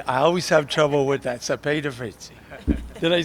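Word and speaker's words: Cepeda-Freytiz: We also welcome Representative, I always have trouble with that, Cepeda Fritzi.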